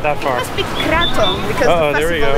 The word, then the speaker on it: Krathong: Krathong. At? Krathong. Krathong? Krathong. Okay. Krathong. Krathong or Krathong? All right, so it's either Krathong or Krathong. We got that far. It must be Krathong because uh-oh, the festival there we go.